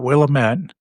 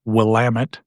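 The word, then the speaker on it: Willamette: So it's not Willtt, it's Wamut Valley.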